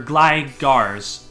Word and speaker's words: Gligar: So don't pronounce it Gligers, pronounce it, or Gligars. That's how you would probably say that the Pokemon's name, Gligar.